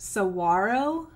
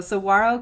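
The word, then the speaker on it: Saguaro: cactus is called pronounced Saro Cactus the g is silent so I was butchering it the whole time it's okay so Saro Cactus we're doing the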